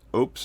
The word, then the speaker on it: Oupes: and yes that is the way that they pronounce it on their website so I'm going to trust them that it's oops and not oops but this is in their